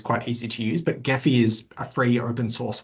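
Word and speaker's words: Gephi: can sometimes be appealing to people it's called geffy which is spelled g p um so that's what I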